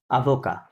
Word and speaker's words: avocats: আভোকা ফরাসিতে কি বলে?